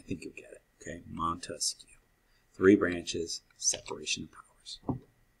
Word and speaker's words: Montesquieu: us this idea so why do i say montesquieu well you get three branches monte skew three syllables three branches okay you can remember